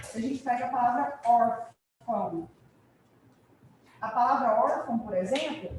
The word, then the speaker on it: órfão: Qual é a sílaba mais forte aqui, nesse caso? Or, ok? Ela é uma paroxítona, a gente vai ver isso daqui a pouco, certo? E quem realmente indicou a sílaba tônica foi o acento agudo. O tio não serviu para indicar a sílaba tônica. O tio serviu para indicar um som nasal.